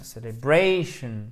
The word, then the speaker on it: celebration: Donc, ils courent, ils ont, accent tonique ici, et vous avez un accent tonique secondaire, parce que sinon le mot, pouf, il tomberait sur lui-même un peu. Donc, ça nous donne celebration, celebration.